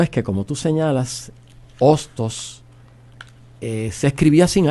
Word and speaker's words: Hostos: un poco se transforma sabiendo que la H es una letra muda y que según dicen